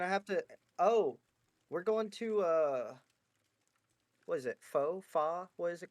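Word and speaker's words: phở: Fa? What is it called? How do you say it? Can someone correct me? Fa. Yeah. Yeah, like fuck.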